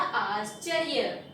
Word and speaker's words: आश्चर्य: जब भी या के ऊपर ये रा की मात्रा लगाते हैं ना, इसका प्रोनाउंसिएशन या से पहले होता है। तो क्या हो गया? आश्चर्य।